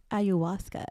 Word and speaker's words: ayahuasca: Ayahuasca.